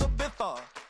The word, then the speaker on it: Ibiza: Yeah, it's pronounced Ibiza, actually.